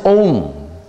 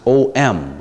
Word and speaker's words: Om: What is Om? Om. In the romanization of the sound is O-M, Om.